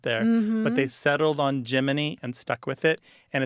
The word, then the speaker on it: Gemini: space program geminy is Jiminy as in Jiminy Cricket yeah that became their